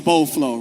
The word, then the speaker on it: Beau Fleuve: So, you're probably wondering what is Boflow, right?